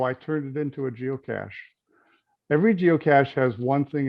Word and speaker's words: geocache: knows it's spelled g-e-o-c-a-c-s-e it has nothing to do with cash money okay it's geo for earth cash french pronunciation is cachet